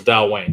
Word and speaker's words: Dailuaine: it that way yeah that's the way I've heard it pronounced as Dal Wayne this is Del Wayne 2007 13 years 57.8 there's no W in there I know it doesn't but it's Gaelic I can't help they can't help it